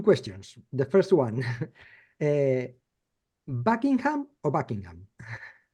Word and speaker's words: Buckingham: second one you said Buckingham like you pronounced the G so we don't pronounce the G it's just Buckingham Buckingham Buckingham the second one